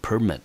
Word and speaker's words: permit: 醒同学，它的重音节落在第一个音节，我们念成 permit, 好，就是许可证或者是执照。